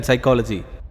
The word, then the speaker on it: psychology: I don't know why P is silent in psychology, but I do very well know why these books are lying here.